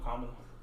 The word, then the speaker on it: Kamala: Oh, Kamala. Kamala. Kamala. That's what we're gonna call her. No, it's Kamala. That's how she pronounces it.